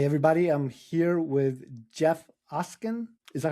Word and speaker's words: Oskin: I'm here with Jeff Ocen. Is that how you pronounce it, Jeff?